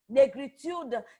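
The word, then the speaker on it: Négritude: na greet ood that the French pronunciation Negritude is the identity or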